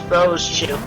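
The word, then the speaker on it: Rosechu: No, it's two syllables. Rose chew. You don't say the E. It's just rose chew.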